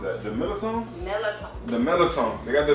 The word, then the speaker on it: Mirlitons: Oh, baby, how do you pronounce that? The Mirlitons? Mirlitons.